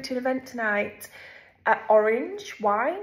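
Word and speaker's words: Oranj: an event tonight at Orange wine it's called it's called orange but it's spelled o r a n j o r a n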